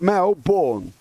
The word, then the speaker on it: Melbourne: it's born born identity born is on the end of born and then you got Mel so you got Mel born okay that's that male